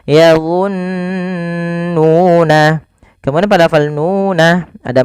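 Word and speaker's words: يظنون: Cara membacanya yaitu menahan suara nunnya sepanjang 2 harokat. Maka yadhunnuna jangan langsung yadhunnuna tapi ditahan dulu nunnya yadhunnuna.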